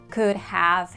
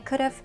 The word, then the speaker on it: could've: And pay attention please on pronunciation so we don't say could have, should have, would have. We contract them and say could've, should've, would've. People rarely say the full version like could have.